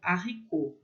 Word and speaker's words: haricot: Então, haricot é regra, a gente não vai falar som de R com H, o H vai ter som de H, e o T no final vai ser mudo. Haricot.